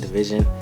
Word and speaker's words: DVSN: I believe it's pronounced DVSN Division.